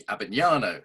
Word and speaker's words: Abbagnano: on the show today, Anthony Abbagnano.